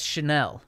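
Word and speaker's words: Chenal: leo chanel from wisconsin a linebacker uh it's chanel yeah yeah s s okay and this is the pronunciation yes in little words sha sha dash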